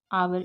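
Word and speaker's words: hour: ठीक है, ये क्या है आपका आवर, इसको आवर पढ़ते हैं, हावर नहीं पढ़ते।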